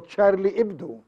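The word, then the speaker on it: Charlie Hebdo: ا ماذا نقول عن تشارلي ابدو هي تكتب الاتش هبدو لكن هي سايلنت فتلفظ تشارلي ابدو جريده ساخره يعني جريده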